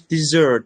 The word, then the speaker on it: dessert: sorry yes and and be careful with the pronunciation it's not there is Desert and there is dessert yes dessert is a type of food you eat after meal yes desert is a hot place so it's desert not dessert desert desert